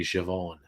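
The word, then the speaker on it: Siobhan: name that looks like ceo barn is actually javon guelga is like that so um uh safa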